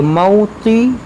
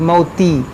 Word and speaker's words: موطئا: دیکھیں موطی طی ہے، یہ تا نہیں ہے کہ موتی، موطی یغیظ الکفار. یغیظ الکفار. یہاں پر دیکھیں کیسا اس کو ہجے کریں گے، میم واو زبر مو، طا زیر طی، موطی.